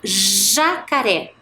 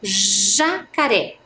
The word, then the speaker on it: jacaré: Olha lá, jacaré. Olha, escuta bem a pronúncia. Jacaré. Não é parecido com a pronúncia da palavra gelo, girafa?